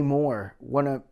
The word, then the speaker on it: Mohr: And I heard one where with Jay Moore.